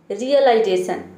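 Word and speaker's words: realization: रियलाइजेशन, देखिए इसको पढ़ना है आपको रिय, पहले आपको रिय प्रोनाउंस करना है। ठीक है, उसके बाद लाइजेशन, रियलाइजेशन।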